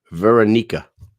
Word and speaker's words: Veronika: Veronika.